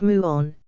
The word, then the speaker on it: muon: very light elementary particle called a muan pronounced muan is created at the